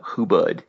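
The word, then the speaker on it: hubud: tie and untie and who but it's just like it's spelled it's h-u-b-u-d if you get on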